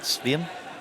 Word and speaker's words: Sveum: Sveum? Remember Dale Svem? Swaim that used to play Swaim? baseball for the Brewers, and it's spelled the same way.